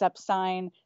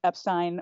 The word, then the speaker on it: Epstein: dude anyway so yes according to Mark lewison it's upstein this guy has devoted his life to researching The Beatles for God's sake you know he's the definitive historian biographer everything he's done his homework so it's Epstein for Mark lewison now the best part